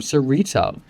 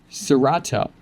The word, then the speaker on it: Cerato: And to nurture it, you're being tapped into the flower of Cerrito or Cerato. It's pronounced a number of ways, but the message is